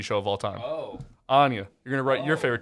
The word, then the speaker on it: Angier: just talk that once kanye anya oh you just take the k out pretty much oh [